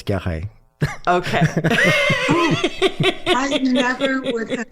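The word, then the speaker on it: Guerraz: I'm from California so when I first saw that I thought it was gz gz you know like a Spanish California name right but he was from French Switzerland and it's gah okay I never would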